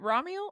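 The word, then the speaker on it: Ramiel: That's what's so funny is like, is it Ramul? Is that how they pronounce it in the audio books? In the audio books, it's pronounced Raml.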